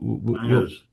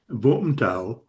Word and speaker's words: Vũng Tàu: What Bangers. yeah. What were you saying maybe the correct pronunciation might be? Vũng Tàu. Right. But but No, we could just call it bangers. It's Vangas.